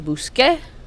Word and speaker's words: busqué: In buscar, the C becomes QU, so the yo becomes busqué.